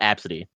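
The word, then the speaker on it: Abcde: Her name is spelled A B CDE E pronounced absity.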